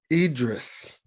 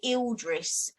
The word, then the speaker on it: Idris: for over two hours let me say his name right idris idris yeah for some reason you say ill dress but there's no l in his name currently he is making